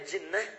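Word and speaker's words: جِنَّة: Lihat sini, ada junnah, ada jinnah, ada jannah. Jinnah, jinnatun, kemudian jannatun. Tulisannya sama, harokat awalnya yang beda.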